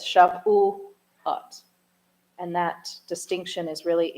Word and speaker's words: Shavuot: But in Shavuot, for example, we have put the syllable dividers in there. So it's Shavuot.